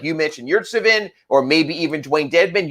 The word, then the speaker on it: Yurtseven: Yeah, Yurtseven is how it is. Yurtseven, that's how it's pronounced.